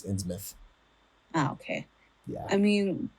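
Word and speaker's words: Innsmouth: or in mouth it's it's spelled ins mouth but it's in myth oh okay yeah I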